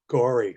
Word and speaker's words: Gorey: in core town and gorey which i thought was a very strange name gory for a town but it's not spelt the way we spell it and we tried to